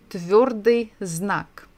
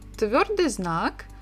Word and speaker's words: твёрдый знак: But by itself, it has no sound at all.